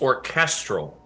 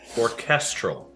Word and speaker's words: orchestral: actually tried tonight uh emphasis is on the middle syllable it's orchestral orchestral midnight Syndicate check them